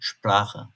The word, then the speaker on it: Sprache: Örneğin "Neun, Haeuser" Şayet s harfinden sonra p harfi geliyorsa s harflerini ş gibi okuyacağız. Örneğin "Sprache, Sport" Benzer şekilde s harfinden sonra yine t harfi geliyorsa yine s harflerini ş gibi okuyacağız.